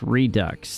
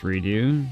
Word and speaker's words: Redux: Isn't it pronounced redu? Still silly French things, right? England. What about French? Is it redo or redux? I don't know. It's re dux.